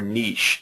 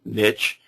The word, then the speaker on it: niche: having a very broad niche or niche some people pronounce and specialists have a very specific niche and a very specific